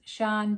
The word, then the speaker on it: Siân: to say it but if you think of it's kind of soft and long so if you think